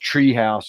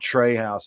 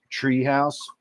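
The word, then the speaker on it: Trē House: the mushroom juice from is pronounced Tree House, not Trey House. It's TRE House, but there's a line over the E, so I always assumed that meant it was a long E, Tree House.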